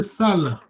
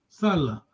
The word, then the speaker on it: sala: So your tone, the way you pronounce gives the meaning to the word.